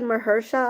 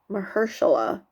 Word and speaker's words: Mahershala: right we know that mahersha Ali mahershala why am I missing a syllable rehearsala Ali is going